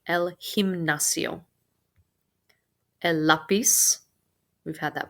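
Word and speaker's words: gimnasio: word exam in it this letter g is pronounced like an h el himnacio el lapis we've had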